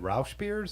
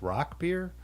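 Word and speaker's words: Rauchbier: yeah Ryan said uh I had always pronounced it Rous beers and that's what I'd heard Brewers pronounce it but I guess it's actually pronounced Rock beer but either way I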